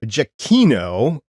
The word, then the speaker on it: Giacchino: It was done by Michael Giacchino, and I checked this pronunciation, so please, if I'm wrong, let me know what it is.